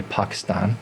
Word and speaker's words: Pakistan: So huge journey, and we didn't make it to Pakistan until, or if you want to say it properly, Pakistan.